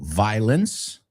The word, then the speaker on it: violence: So, y la O, fíjate, no lo pronuncio en esta palabra. Violence. It's not violence. Porque es incómodo meter la O. So we say, naturalmente y sin pensarlo, sin haberlo acordado antes, violence. El sonido final es una S.